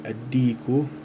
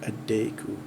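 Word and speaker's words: الديك: And I think here this is also misspelled in my book, but it's supposed to be addiku. Addiku jamilun. Addiku jamilun. It's not addeku.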